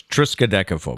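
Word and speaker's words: triskaidekaphobia: is if it bothers you it's known as triscodechophobia and for bonus points matt will now spell it silent p t p uh riskadechophobia riskadeco no it's triskadekaphob oh okay so at least i had some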